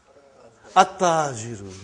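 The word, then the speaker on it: التاجر: Okay, you did not pronounce. You skipped it. Okay. At-tajiru. You see, your tongue has to touch, the upper part of your mouth inside.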